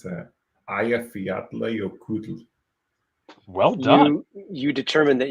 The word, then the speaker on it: Eyjafjallajökull: So a piece of trivia, I actually know how to pronounce that. Eyjafjallajökull.